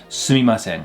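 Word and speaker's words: すみません: You could say sumimasen. Another way people will pronounce it is actually a way more slang way to say sumimasen, which is suman.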